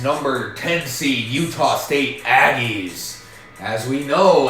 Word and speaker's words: Aggie: Number 6, BYU, the Cougars on the prowl against number 10 seed Utah State Aggies. As we know, Aggie rhymes with naggy, and sometimes Cougars can be quite naggy.